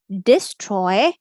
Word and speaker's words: destroy: focus towards this spelling that a here is saying the uh sound or the schwa sound, and the word is destroy. Destroy. I'm going to say it slowly. If I say quickly, so this is the stressed vowel destroy, destroy, destroy, destroy. This is the unstressed sound.